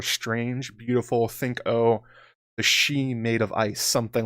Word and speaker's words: Sidhe: or mythical beings called Shi. It's actually spelled Sidhe. People like myself who have seen that word in the past pronounce it Sidhe, but it's pronounced Shi basically.